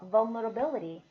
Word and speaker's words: vulnerability: vulnerable 했어요. 여기 ability. 그래서 여기 강세 살리시면 되겠죠? vulnerability 하겠습니다.